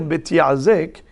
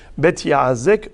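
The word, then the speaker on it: בית יעזק: Donc c'est ainsi qu'on peut prononcer le nom de cette cour. Bet Yazek par rapport au verbe vayazekeu. Mais il est possible également de le nommer Bet Yazek, ayant pour racine Azikim, des menottes.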